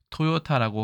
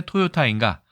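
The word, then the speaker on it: 豊田: 그 다음에 중국에서는 당연히 간체자로 펑티엔이라고 하지 토요타라고 하면 뭐 토요타 정도는 유명하니까 일본 중국 사람도 알 수 있겠지만 잘 못 알아듣습니다. 풍천, 펑티엔이라고 발음을 해야 알아듣죠.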